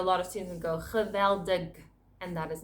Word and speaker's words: geweldig: Geweldig means amazing. Geweldig. With the harsh G sound, it's geweldig.